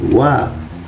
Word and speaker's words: は: Kenapa ini dibacanya wa? Untuk partikel padahal ini ini huruf H ya. Untuk partikel itu H tapi dibacanya wa ya untuk partikel khusus partikel aja.